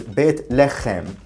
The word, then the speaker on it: Beit Lechem: That's because the original pronunciation of the name was Beit Lechem, meaning the temple of Lechem.